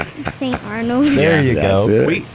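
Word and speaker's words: Saint Arnold: Rhymes with Ain't Barnold. St. Arnold.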